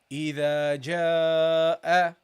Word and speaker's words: إِذَا جَاءَ: Okay, so keep it the duration twice as long or a little bit longer than this alif. Okay, so you say إِذَا جَاءَ.